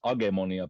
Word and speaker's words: Agemonia: We pronounce it Agemonia, but I guess it's a fantasy role-playing like a board game.